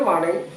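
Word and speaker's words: morning: Good मॉर्निंग, good मॉर्निंग। आर को silent करके आप बोल करके देखिए, आपको पता चलेगा कि क्या होता है प्रोनाउंसिएशन।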